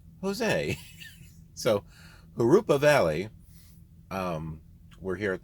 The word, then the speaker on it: Jurupa: free to correct me i'm pretty sure it's harupa valley my that's how my mentor pronounces it and he lives in this area so harupa valley uh not jeruba valley it's like uh jose right j-o-s-e it's not jose it's not joe's it's not josie it's jose so harupa